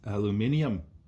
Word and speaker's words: aluminium: we'll call this example five gram piece of aluminum whereas the brits say aluminium at 20 degrees c is heated up with